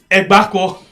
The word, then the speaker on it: Agbakoh: ABAKOH. Man, let me say him again. Oh, I don't say him. Egbako. Not Abako.